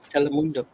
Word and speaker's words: Telemundo: Telemundo.